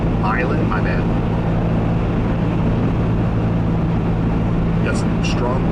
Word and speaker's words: Milan: It's pronounced Milan, my bad.